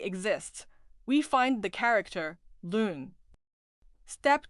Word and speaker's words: 仑: Check whether a character with the pronunciation lun already exists. We find the character lun.